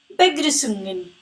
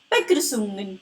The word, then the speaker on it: Begrüßungen: It is called as sharp S or SZ. It makes the sound S. Also, there are two dots on U. Those are called as umlaut, making the U sound as U. You will learn about pronunciations in the upcoming videos.